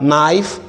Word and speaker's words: knife: letter k is that the letter k is not to be pronounced or realized when it comes before letter n and this is evident